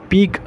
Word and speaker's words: pique: और जैसे एक और वर्ड याद रखिएगा पीक, ये कई बार रिपीट होता है बट मेंस एग्जामिनेशन में मैंने 2-3 बार देखा है ये।